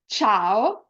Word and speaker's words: ciao: If the letter C is followed by E or I, then the sound of the letter C is soft, as in the English word chat. Some examples are ciao, cena, cima.